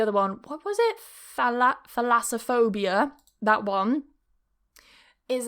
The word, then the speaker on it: Thalassophobia: Is it phasalophobia? Something like that? Yeah. Let me have a look at the pronunciation as well of that. Pronunciation. How to pronounce Thalassophobia. Thalassophobia. That's it. Thalassophobia is a type of specific phobia that involves